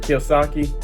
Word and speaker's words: Kiyosaki: muck over there and yes I did say his name wrong it is Robert Kiyosaki and You Know Rich